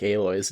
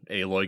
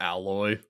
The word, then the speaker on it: Aloy: Dude, it was a lot of fun when Aloy got added into Genshin, so all the Genshin players were making their videos and calling her Alloy. Oh no. And just never bothered to look up a pronunciation.